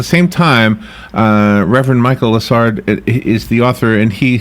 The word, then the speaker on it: Lessard: story in such a wonderful way am I pronouncing your last name correctly Michael yes it's lard lard okay the the yesterday Robert and I